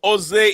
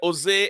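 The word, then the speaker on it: José: Yeah, Jose, and some people say Jose, and some people say Jose, and I don't know. Some keep the J silent, and others pronounce the J.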